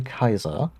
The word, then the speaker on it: Caesar: a lot of things they also pronounce caesar consistently um i struggle to say wrong like they say kaiser um and that's the german word for emperor if we just go